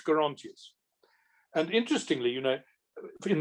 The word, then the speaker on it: Gerontius: And I think if you are more Catholic, you say the soft, more Latin G. Right. And the hard G is a more Protestant. And I never knew that people said Gerontius until quite late on. I learnt Gerontius.